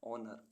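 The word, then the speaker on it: honour: strength strength means शक्ति ऐसे words जिनमें अल्फाबेट एच साइलेंट रहता है एच ओ एन ओ यू आर ऑनर ऑनर means सम्मान एच ओ एन ई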